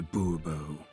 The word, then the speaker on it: Bourbeau: Fine. Monsieur de Bourbeau. The emphasis falls on the last syllable. Bourbeau?